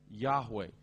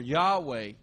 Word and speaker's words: Yahweh: The name of, in English, we often say Jehovah. And probably the Hebrew pronunciation is something like Yahweh.